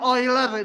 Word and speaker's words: Euler: Bacanya Euler ini ya, nama orang.